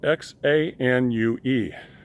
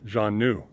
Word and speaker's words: Xanue: Xanue is spelled X-A-N-U-E, okay? Xanue, with emphasis or accent on new, Xanue, okay?